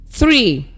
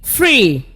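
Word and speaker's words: three: Make sure you are not pronouncing f instead of th and saying free, free instead of 3, 3, like most learners do.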